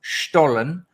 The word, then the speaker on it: Stollen: John told me it's pronounced Stollen. This Sunday. Stollen.